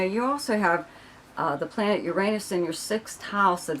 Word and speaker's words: Uranus: And yes, I do still pronounce it Uranus. I'm not going to change it because that's the way I've pronounced it since I was a child, right? Just like everybody else. I don't know who came up with this Uranus or whatever the hell they're saying.